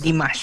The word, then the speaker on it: Dimash: But I didn't know na si Dimash is Dimash. Spell as it pronounced.